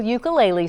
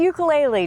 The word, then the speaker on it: ukulele: Jake Shimabukuro is an international ukulele star.